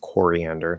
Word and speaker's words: coriander: will also say turmeric so coriander so it's aquaria coriander you want to say the ore there because it's stressed coriander not kerr coriander uh and celadon like